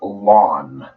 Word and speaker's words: ln: logarithm the way you the way you say it is lawn kind of like your uh like your front lawn like I need to